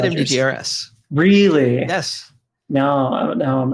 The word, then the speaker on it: MDGRS: Is it Mudgers? Letter by letter. No, you say MDGRS. You could say that. I've talked to him a handful of times, and I always call him MDGRS. He hasn't corrected. Please tell me. Someone tell me the correct way to say that. I asked him. He said MDGRS.